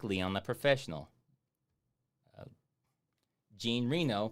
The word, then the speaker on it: Reno: like Leon the Professional Jean Reno pronounced like renal yes I do yes